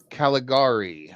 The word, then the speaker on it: Caligari: Caligari. I always struggle to pronounce that one.